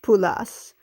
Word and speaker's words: pulas: It's pulas. I must have heard her say it, and then she momentarily forgot, and then when I said it correctly, then she remembered that yeah, that's how you say it.